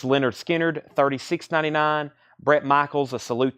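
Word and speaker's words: Lynyrd Skynyrd: 29.99 for Beth Hart pronounced Leonard Skynyrd 36.99 Brett Michaels a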